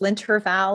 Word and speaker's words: L'Intervalle: saying the name incorrectly that's okay it's linter Val and and it is sometimes a little difficult to pronounce but you did really well so yes my name